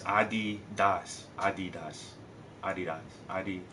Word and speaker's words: Adidas: and I don't know I've always said Adidas but they say it's Adidas adid Das ad Das